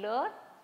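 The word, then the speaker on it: leurs: form and ler and ler both are pronounced the same although we have an s here so both of these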